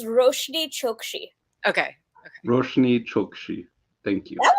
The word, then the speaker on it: Roshani Chokshi: just kind of winging it it's okay it's roshiri chokchi okay okay thank you that was really good